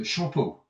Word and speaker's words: Champeux: but in this case because we have a vowel after the P we pronounce the P so it's shamp and